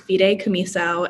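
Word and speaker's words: fideicomiso: lot of confusion about this thing called a fide camiso i don't know if you guys have heard of it and that's how it's pronounced fide kamiso and in very simple terms it acts as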